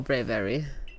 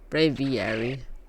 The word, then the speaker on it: Braviary: I bored, Let's go, Braviary. Braviary. I know it's you know, the mix between brave and aviary. But it's still kind of weird to pronounce.